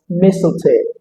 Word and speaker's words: mistletoe: The first letter T in this word remains silent. I would love to pronounce this word as mistletoe.